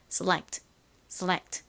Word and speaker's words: select: 한국식으로는이 끝에 t가 워낙에 약하게 발음이 되니까 그냥 빼고 셀렉이라고만 말하는 경우가 많은데요. 실제 발음은 select 이렇게 소리가 살짝 들어갑니다.